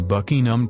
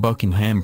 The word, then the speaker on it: Buckingham: and places for example it is Buckingham Palace not Buckingham Palace it she will be getting married in st.